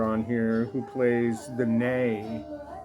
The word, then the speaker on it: ney: And the main player on here who plays the nay, whether it's nay or nigh, sometimes it's spelled N-E-A, N-E-Y, sometimes it's N-A-Y, sometimes I've seen it N-E-I, by the great this